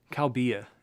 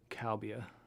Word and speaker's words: cobia: mids in there probably kalbia it's a fish species cabia cobia so i was saying the oh wrong cowbeer thank you for telling me how to pronounce that cowbeer i have no